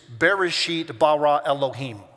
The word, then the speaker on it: Bereshit bara Elohim: It is Bereshit bara Elohim. That's how you say it in Hebrew.